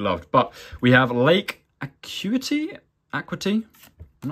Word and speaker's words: Acuity: But we have Lake Acuity. I'm not actually sure how to pronounce that. In British English, this is said as Acuity.